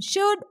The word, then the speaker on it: should: Similarly, in should, L is silent.